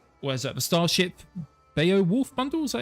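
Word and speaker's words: Beowulf: The starship Beaolf bundle. Is that how you say it? Bowolf.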